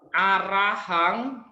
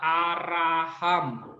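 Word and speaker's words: arahaṃ: sekolah juga masih ada baca arahang dibaca araham Dibaca araham jadi nanti kalau kita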